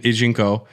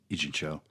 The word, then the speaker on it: Ijincho: No, but from my understanding of it, it's more Yakuza, it's more Kamurocho and Ijinko, and is Ijinko? I forget. Where Like a Dragon takes place. Ijincho. Ijincho, but it's Ijincho.